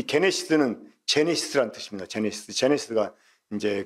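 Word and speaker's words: γένεσις: 이 게네시스는 제네시스라는 뜻입니다. 제네시스. 제네시스가 이제 그 어떤 태어나는 시작, 기원을 가리켜요. 그러니까 창세기가 영어로 제네시스잖아요. 그러니까 이게 이제 그 영어식 발음이고 헬라식 발음을 하면 게네시스.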